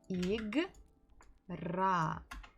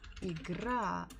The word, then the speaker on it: игра: Игра. Игра. Игра. So here we stress буква А. Ударение падает на букву А.